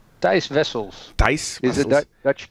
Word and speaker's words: Thijs Wessels: This is Wessels. Thijs Wessels.